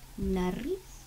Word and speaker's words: nariz: Can you say nariz? What does it mean? Nariz means nose. Roll your tongue and say nariz.